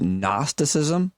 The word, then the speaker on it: Gnosticism: I hate this word simply because of the way it's spelled. I had to look up its pronunciation, but the word is Gnosticism. Did I get it right? Yeah.